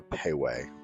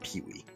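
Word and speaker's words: Pei Wei: However, unfortunately, their credit card system wasn't working properly, so I had to settle for Payway, which my wife informed me later is not pronounced Pee-Wee.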